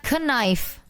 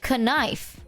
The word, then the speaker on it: knife: Oh, the K used to be pronounced. Give me that knife. We say knife.